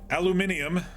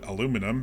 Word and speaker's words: aluminium: in a better mindset aluminium or As Americans call it aluminum because that's how it's spelled uh I think we